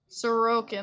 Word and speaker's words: Sorokin: Oh, most Russian names that I've heard put the emphasis on the middle syllable. Sorokin.